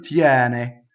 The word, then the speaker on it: tiene: Now, tiene, as in the case of a lot of semi-vowels preceding an E, opens the E. Some don't, but a lot do. Tiene, right? Single N, not tiene, right? That's the mistake we can make.